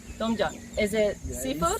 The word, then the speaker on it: tom yum: Tom yum. Tom yum.